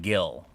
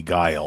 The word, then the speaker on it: Guile: said I've always said guile but you know there was Willie and I've heard uh I've heard Gill before but I mean guile is a word like that's I feel like it's definitely guile and I feel like